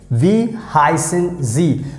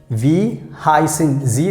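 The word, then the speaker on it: wie heißen Sie: both so here you can read and see v heisen z whenever you have this capital s letter so you have to understand that we are talking about formal so v hyson z that means what's your name so this is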